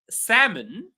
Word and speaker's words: salmon: Um salmon. The L is silent.